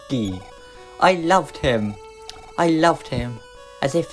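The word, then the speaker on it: Giegue: Maria remembers some mysterious things then about Geeg. That's how it's pronounced in the Japanese version. They tried to get the spelling so it had the same pronunciation, but looks sort of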